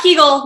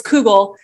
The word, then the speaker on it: kugel: probably pronouncing this wrong kugel not kegel not kegel everyone not kegel it's google so uh we'll have